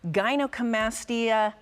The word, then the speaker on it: gynecomastia: We talked about breast augmentation, and now we're talking about gynecomastia reduction.